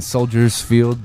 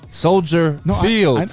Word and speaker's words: Soldier Field: I also need to point out, I was saying Soldiers Field just to see if one of you guys would correct me. Because you said it wrong. I said it wrong. I'm trying to get you to say Fields. Soldier Field. I know what you said. I was trying to get you to correct the last part.